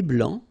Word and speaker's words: blanc: Un thé blanc, final C not pronounced.